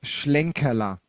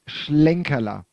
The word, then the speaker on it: Schlenkerla: that's um the brewery name is schlenkela would mean the little hem so that's close as well but it's schlenkela she okay well help